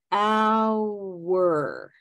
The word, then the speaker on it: hour: Ow, hour. Okay. It should feel like almost like another syllable.